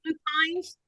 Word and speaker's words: lupine: No, people, they pronounce it 2 different ways, lupine and or lupin. Either one.